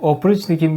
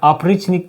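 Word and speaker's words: опричник: günü şimdi bu bu Opr nick'in bir günü Vladimir sorokin dilimize çevrilen ikinci kitabı yazarı tanıyorum ama Bu kitabı da bilmiyorum ilk kitabı tipiyi Evet güzel kitaptı sevmiştim oprichnik ya oprichnik diye okunuyormuş Çarlık döneminde bir Teşkilatı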